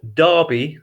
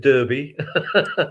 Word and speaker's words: Derby: you'd heard of and it's pronounced darby not at derby i know you have